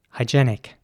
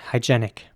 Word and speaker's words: hygienic: american english it would be more like hygienic and once again the e at towards the end that is pronounced like an ä hygienic hygienic here's an example